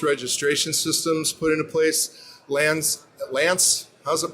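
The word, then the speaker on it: LAANC: Lance, how's it pronounced? LANNCE?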